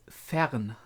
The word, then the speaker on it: Fern: actual Mage Apprentice fan fan just to to pronounce it again it's Fern it means as much as far away or